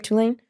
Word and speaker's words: Tulane: There were real mummies at Tulane. Is that how we pronounce the college? Yes. Right, Tulane? Yeah, real, not haunted.